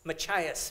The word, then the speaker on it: Machias: one's a bluebird motel how do I pronounce this again just ma CH is Machias Maine Bluebird Motel Machias Maine this is fiction